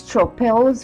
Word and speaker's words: Stroppel: will show you today how to do the Stroppel canes. And yes, there are actually two of them, and I will be posting both up in the cards and in the description links to Alice Stroppel's video on how to make these canes, so